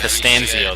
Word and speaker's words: Costanzo: Is that how you say Costanzo, that is how you pronounce it, sir.